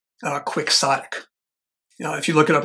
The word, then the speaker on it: quixotic: The Brits must have introduced it because they pronounce it in the British way without trying to do the Spanish. Quixotic.